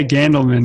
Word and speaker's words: Gandelman: How do you pronounce that? Yeah, Gandelman.